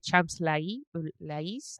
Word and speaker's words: Champs-Élysées: Theater de Champs-Élysées, I think is how they pronounced it.